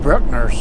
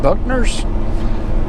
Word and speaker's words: Bruckner's: That's Bruckner's. I always pronounced it Buckner's.